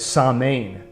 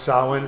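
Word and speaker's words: Samhain: m h a so the m is pronounced like a w can you look up how do you spell uh the festival of i think it's saw main but it's pronounced solon okay will's on it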